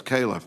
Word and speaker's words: Califf: Califf, for being here today. It's Calif, by the way. Calif. My name gets mispronounced.